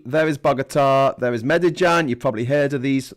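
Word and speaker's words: Medellín: there's a bugatta there there's medijan that's how that's pronounced medijan and then up uh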